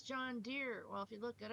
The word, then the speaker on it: John Deere: e at the end it's not John Deary it's John Deere well if you look